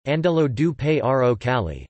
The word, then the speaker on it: Angelo Giuseppe Roncalli: born Angelo Giuseppe Roncalli, Italian pronunciation, Andello du Paro Cali, 25 November 1881 to